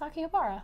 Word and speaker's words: Akihabara: I'm getting over your pronunciation of Akihabara. It's Akihabara.